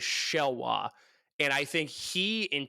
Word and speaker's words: Xelhua: What does Cup say how to pronounce his name? Shelwa. Shelwa? Okay, so Shelwa. That is the luchador in CMLL shows. He's been feuding with Guerrero Maya Jr. It is XELHUA. It is Shelwa.